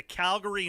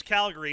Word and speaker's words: Calgary: to look in the Calgary newspaper it is Calgary not Calgary I are you tell me